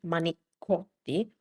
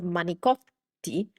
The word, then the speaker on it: manicotti: This Italian C, manicotti, turned into a G, manicot. manigot And also, the ending vowel got lost completely. So, instead of manicotti, it turned into manigot.